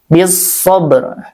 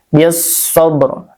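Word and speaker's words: بالصبر: sukun sebelumnya fathah bisobr bisabr di sini alif lam syamsiyah karena alifnya alif lamnya setelahnya huruf syamsiyah yaitu shad ya bisabr jadi dibacanya digamkan langsungkan aja ke huruf shad lamnya tidak terdengar ya bisabru dan ditasydid ya sad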